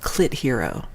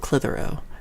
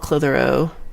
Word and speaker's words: Clitheroe: Maybe it's called Clit Hero, but I think it's called Clitheroe.